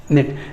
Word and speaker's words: knit: Here the letter I is pronounced as E, so we write like this, knit, knit. Actually knit, K-N-I-T. ఈ K అనేది silent, just చెప్తున్నా.